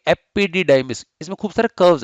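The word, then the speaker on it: epididymis: Correctly pronounce करेंगे, क्या करेंगे? एपिडिडाइमिस।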